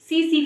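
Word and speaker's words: tsetse: पास है सीसी फ्लाई, इसमें जो टी है वो आपका साइलेंट होता है, इसे हम सीसी फ्लाई कहते हैं, ठीक है।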